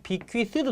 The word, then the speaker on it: bequeath: 이 발음이 bequeath도 되고 bequeath도 됩니다. 그러니까 hand down 나오면 딱 얘가 나와야 돼.